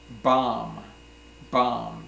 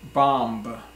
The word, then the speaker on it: bomb: the first word is Bom Bom bo and B so we don't say bomba bomba that's not right the B is silent we say Bom so